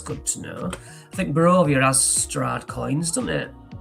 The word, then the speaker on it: Barovia: A pronunciation guide I'm big in favour for. Barovia works. Barovia.